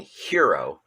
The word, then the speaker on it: Herro: not sure if it's i hear everybody basically saying hero and they indeed very well may be correct but if i was to look at the name without hearing the pronunciation i would think it's tyler harrow h-e-r-r-o so um maybe in